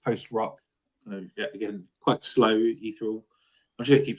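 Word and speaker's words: Ágætis byrjun: yeah so Icelandic post Rock again quite slow eal I'm just going keep say the word eal said that to me time I don't know how you pronounce it like adst byon the what I'll take that yeah that's that's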